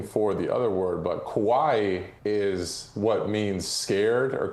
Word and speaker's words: kowai: Kowai means maybe intimidated or fearful. Kawaii is cute or adorable. Wow, that Exactly. is, and it's spelled the same? So kowai, I believe, is like K-O-W-A-I, and then I believe kawaii is K-A-W-A-I-I.